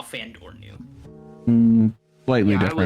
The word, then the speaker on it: Fandor: How did wasn't it Fondor? Wasn't it pronounced Fondor? Or is it Fandor? It's A-N, Stan, Fandor.